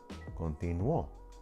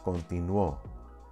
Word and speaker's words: continuó: Then we also have continuó. Ella continuó. She continued. That's a past form, a preterite. And it breaks the rule, but we pronounce it more strongly in the O, continuó.